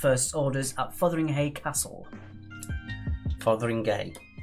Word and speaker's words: Fotheringhay: Fotheringhay, it's pronounced. Well, Fotheringhay, it's pronounced.